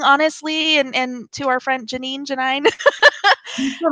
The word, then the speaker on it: Janine: Rhymes with wine. Thank you. It's Janine. I knew it was.